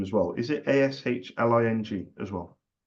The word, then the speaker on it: Aisling: rest on my laurels, because if you said Ashling, I'd have got way overconfident.